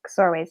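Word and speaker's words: Csorwe: like in in text you tell us how to pronounce xorway's name like rhymes with doorway uh with the ks of the campaign sound and see don't be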